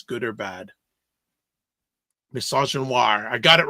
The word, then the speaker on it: misogynoir: How do you pronounce it? Misogynoir.